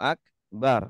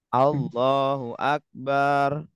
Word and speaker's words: Allahu akbar: ucapkan Allahu akbar Allahu akbar Terkadang ada yang pengucapannya Salah bacanya seumpama ya Allahu akbar bedanya gimana tuh bedanya gimana Allahu akbar Harusnya kan Akbar nah ini bacanya jadi Allahu Akbar Nah kalau Akbar artinya